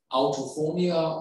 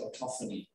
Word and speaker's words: autophonia: And this phenomenon is called autophonia, or as the Americans say, autophony.